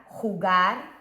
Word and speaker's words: jugar: This one, now we know that the J, this J called J in Spanish, what sound is it? It's like a H sound. So we've got H-U-G-R, jugar, a las cartas.